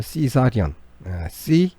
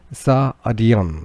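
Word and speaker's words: cesarean: 시색이라고 표현을 하는데, 발음하기가 어려우니까 그냥 시색이라고 하는 건데, 그 발음이 시사리언이에요. 시사리언, 그죠?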